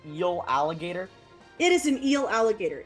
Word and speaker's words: Eeligator: But you've moved your tail out of the way of this Eeligator. What's the plan? Can you say its name one more time? Is that an eel alligator?